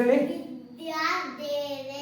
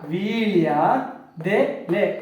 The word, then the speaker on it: ವೀಳ್ಯದೆಲೆ: they ದೆಲೆ ಲೆ ಕೂಡಿಸಿ ವಿದ್ಯಾ ದೇಲೆ ಅಲ್ಲ ವೀಳ್ಯ ವೀಳ್ಯ ದೆಲೆ ದೆಲೆ ವೀಳ್ಯದೆಲೆ ವೀಳ್ಯದೆಲೆ ಹೌದು ವೀಳ್ಯ ದೆಲೆ ವೀಳ್ಯದೆಲೆ ಅಂತ ಉಚ್ಚಾರ ಮಾಡಬೇಕು ಉಚ್ಚಾರ ಮಾಡಿ ಒಂದು ಸಾರಿ